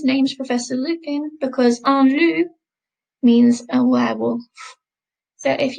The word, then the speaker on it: loup: Okay, so if we note this part of the word, the P, I'm not pronouncing it as it's at the end of the word, so it's silent. Un loup.